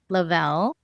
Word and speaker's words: Lovell: I'll say it first and then I'll spell it for you all. It's Lavel.